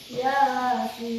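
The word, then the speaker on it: يس: Di sini bunyinya Yasin. Kira-kira di sini huruf yang mana yang mengandung mad lazim mukhaffaf harfi? Ya. Huruf ya. Berarti berapa harakat itu membacanya? 2. 2. Makanya Yasin. Coba 1, 2, 3. Yasin.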